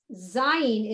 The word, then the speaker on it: zayin: Zayin is more of a lazy Z, like the letter Z.